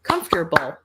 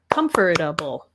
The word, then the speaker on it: comfortable: All right, our next word we have is comfortable or comfortable. So 3 or 4 syllables, depending on how you say it.